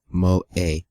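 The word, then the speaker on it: 萌え: Pronounced Moe.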